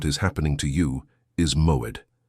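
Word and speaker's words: מועד: The Hebrew word that defines exactly what is happening to you is moed. Pronounce with me in a low voice wherever you are.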